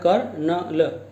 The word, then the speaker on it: colonel: अब आता है स्टूडेंट COLONEL, इसके जो प्रोनाउंसिएशन है वह है कर्नल, कर्नल, कर्नल, pronunciation is कर्नल।